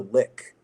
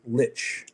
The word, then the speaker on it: Lich: So you you will see a character, his name is Willie the Lick. Uh a lick, L I C. Um it can also be pronounced Lich.